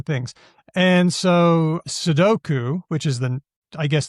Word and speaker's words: sudoku: It's amazing if you want to hear a whole bunch of people pronouncing things. And so sedoku which is the I guess the real name 41 people said that seduko two people sudoko one person seduku four so